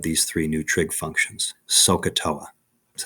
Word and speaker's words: SOHCAHTOA: of one of these three new trig functions sohcahtoa that's how we say it okay now if